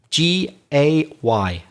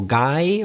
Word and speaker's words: gay: G-A-Y, pronounced gay. I've heard some Spanish people mispronounce it when they speak English. They say como guy or something like that. No, the pronunciation in English is gay.